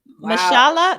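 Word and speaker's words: Mahershala: good category oh this is hard yeah um mashallah that's how you pronounce his name mashallah ashala aileen lee yeah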